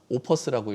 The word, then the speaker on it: 오퍼스: 반포 더샵 오퍼스라고 읽어야 되겠네요.